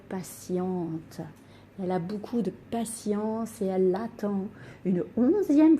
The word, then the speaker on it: patience: jeux j'apprends aujourd'hui que avec le n ou i o n le thé se prononce comme dans patience la patience est ce que